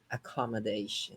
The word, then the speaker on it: accommodation: But let's break it down into syllables. Accommodation. It's 5 syllables, and you Okay. stress number 4. You stress the fourth.